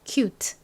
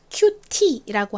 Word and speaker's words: cute: 단어도 역시 큐트 이렇게 끝 발음을 세게 하는 것보다 약하게 하는게 자연스러워요 자 따라해 보세요 cute 한 번 더 큐트 간혹가다가 귀엽다를 영어로 큐티라고 한다고 알고 계시는 경우가